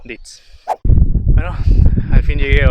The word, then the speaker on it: Dietz: Bueno, como seguía, pregunté a un lugareño y se pronuncia Dietz. Suena mejor 10, pero quién soy yo para corregir a esta gente, la verdad. Así que, ni modo, Dietz.